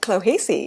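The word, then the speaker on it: Clohessy: Robert, at the age of 14, was an outstanding track athlete, and as a teenager, he trained under Pat Clohesi. Is that correct? How I That's right.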